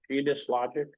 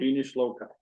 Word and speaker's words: genius loci: Okay, under new business, it's a motion to appoint Peter Manning as, Jane, how do you pronounce this? Genius Logic, Okay. Loci, I think. Genius Loci, thank you.